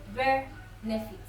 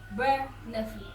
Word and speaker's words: benefit: The stress is at the first part of the word, on the first syllable, benefit, benefit.